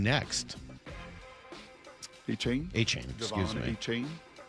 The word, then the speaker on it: Etienne: A-Chain? Which is also apparently how you pronounce Travis Etienne's name.